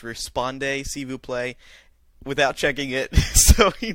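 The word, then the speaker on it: répondez s'il vous plaît: butchered the RSVP pronunciation he thought it was Rippon de cebú play then someone emailed and said no it's respond a Cebu play without checking it so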